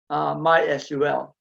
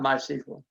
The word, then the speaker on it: MySQL: The official way to actually pronounce MySQL, and I've been saying it all wrong this whole session, is MySQL, not MySQL. But you can pronounce it whatever way you want.